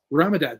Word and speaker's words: Ramadan: Ramadan.